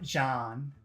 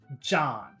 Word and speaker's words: John: have to do is imagine that there's a D in the front so it's not Jan but John John you have to start with a D sound so if your language